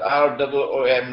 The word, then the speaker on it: روم: It is pronounced as R-O-O-M, Room, but the Arabic word Room is, it describes Eastern Christianity.